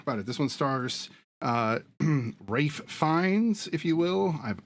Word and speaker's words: Ralph: Yeah, so it's always been Rafe, even though it looks like Ralph. It was like this pronunciation thing of how they used to say it that way, but and it just stuck. Like it was like supposed to be Ralph, but it just ended up being Rafe, and he